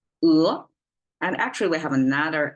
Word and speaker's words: 鹅: Just by the sound of it, we just use one syllable and one vowel to be accurate to express one animal, 鹅.